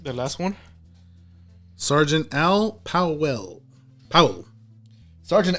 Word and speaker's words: Powell: how Sergeant out well now you got me saying it wrong Powell uh which was uh